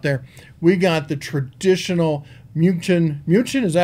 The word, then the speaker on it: München: For the beer drinkers out there, we got the traditional München. München, is that how you pronounce it? We used to call it Munich.